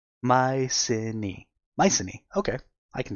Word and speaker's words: Mycenae: I am Achilles, the greatest warrior of Mycenae.